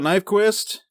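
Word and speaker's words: Nyqvist: Michael Nyquist, that's how you say it.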